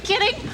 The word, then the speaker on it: kidding: kiding 농담하는 거지 King에도 정직한 King 보다는 D 발음이 날아가 Are you kidding Are you kidding Are you kidding Are you